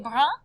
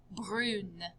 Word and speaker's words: brune: we said il est brun. But when we were talking about the young lady, elle est brune with an E at the end. And you hear how it changes the pronunciation. Brun, brune. Same thing with them being tall.